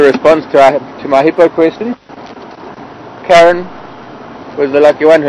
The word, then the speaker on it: Karen: Nairobi, that would be pronounced Karen after Karen Blixen.